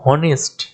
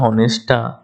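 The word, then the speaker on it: honest: বসবে কারণ এটা কনসোনেন্ট কিন্তু এইচটার উচ্চারণ দেখো অনেস্ট উচ্চারণটা কেমন এর মতো তাহলে সেই জন্যে কিন্তু যেহেতু এটা একটা ভাওয়েলের মত উচ্চারণ কনসোনেন্ট হওয়ার সত্ত্বেও এই যে টার্মটা আছে শব্দটা অনেস্ট এর শুরুটা দেখো উচ্চারণটা তোমরা যদি করো এইচ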